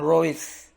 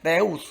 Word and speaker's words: reus: Hai nah anda perhatikan saya mengatakan Rois absorb fitur bukan Reus Padahal dia sendiri kan tulisannya Eru FT uh tapi saya baca price Abdul fitur karena begitulah cara membacanya ya Nah kalau bahasa Inggrisnya